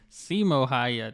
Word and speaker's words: Simo Häyhä: Simo Häyhä, that's how you say his name. I think the video said Häyhä or something. Häyhä.